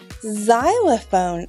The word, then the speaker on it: xylophone: wasn't confusing enough already there's a word where the X makes the z sound do you know what that word is if you guess xylophone you are correct xylophone starts with an X